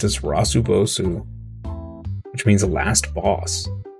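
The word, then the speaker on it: ラスボス: There was a Japanese mall with a Game Center sign written in katakana, pronounced as Rasubosu, which means the last boss.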